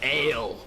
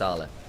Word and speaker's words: Ale: A man who might in one other world be called Ale looks to get some damage down his forces away from his turret. It's pronounced Arla.